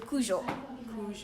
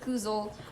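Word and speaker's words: Kužel: And the Z in here is a Z, so Kuzhel. And everybody pronounces it Kuzel, Kuzel. Like, no, it's Kuzhel.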